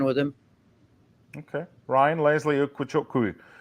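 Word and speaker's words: Ugochukwu: him okay Ryan Leslie ukuku even better if you pronounce it correctly ukuku from Ren 27 million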